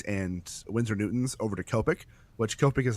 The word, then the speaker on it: Copic: But if you buy Copics, or I don't know if it's Copic or Copic, it's Copic. So however you want to pronounce that word, I always say Copics.